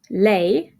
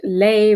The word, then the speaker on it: lei: in a bit, but there's some ways to tell if you're talking about lei versus lei, but when you're speaking, they are pronounced exactly the same.